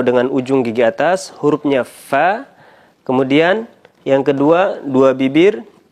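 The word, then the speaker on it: ف: Sekali lagi, pengucapan huruf fa, yakni bibir bawah bagian dalam bertemu dengan ujung gigi atas. Fa. Ketika berharokat fathah, kasrah menjadi fi, kemudian dhammah menjadi fu dengan membulatkan bibir.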